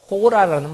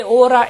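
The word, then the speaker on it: hora: 쓰여지고 있습니다 그래서 꽤 오라 S 몇 시입니까 그래서 오라라는 말씀인데 스페인은 본래 h 음이 묵음이 되죠 그래서 호라가 아니라 오라가 되는 겁니다 히라벌을 그대로 갖다 쓴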